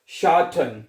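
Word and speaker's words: Schatten: पढ़ना है शा ठन टी को ठे पढ़ना है ठीक है टी जो है उसको जर्मन जुबान में आपने ठे पढ़ना है जैसे ठेला नहीं होता ठेला ठीक है उसको आपने ठेके के प्रोनाउंस करना है तो बनेगा शान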